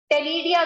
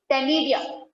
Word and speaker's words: ctenidia: ये feather like structure को बच्चे टेनिडिया कहा जाता है, सी साइलेंट रहेगा, CTENIDIA, टेनिडिया।